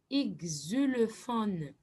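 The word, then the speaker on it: xylophone: h o n e XUL pH on les prononce comme F comme F XUL fon d'accord alors comment peut-on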